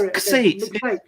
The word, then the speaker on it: Xate: It's an X, not a Z, but very few people can actually pronounce it correctly. Bez is one of them. Alan Alton can say it too, actually. Yeah, it's almost like you're saying ox, but don't say the O instead of it.